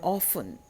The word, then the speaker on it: orphan: I'm an orphan. Orphan, R is not pronounced in British pronunciation.